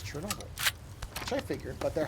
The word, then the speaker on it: Chernobyl: Anyway, as I was saying, that person was nice enough to tell me that, yes, it is still pronounced as Chernobyl.